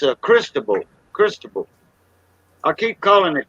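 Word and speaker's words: Cristóbal: Cristobal. Cristobal. Cristobal. Oh yeah, like Crisco. Yeah, Cristo. Yeah, Monte Cristo. Cristo. Cristobal. Cristobal. That's how they pronounce it.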